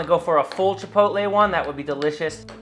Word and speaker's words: chipotle: familiar with chipotle where chipotle is older people's hey i've told my mom how to say this a thousand times she still says chapatta that's great too you